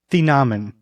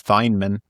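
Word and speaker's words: Thieneman: The Nammen. The Namin. Thank you. Wow. I'm glad you did. I thought I thought it was Thineman.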